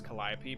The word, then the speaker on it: Calliope: spelled calio but it's in the greek it's pronounced as calliope but frankly i think